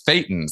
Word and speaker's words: thetan: And, these thetans, that's what they call them in Scientology, thetan. It's not a coincidence. It rhymes with Satan, but we don't have to go there today.